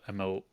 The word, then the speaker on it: Emil: my God all right how do you say Emily but without the e at the end so ml so it is um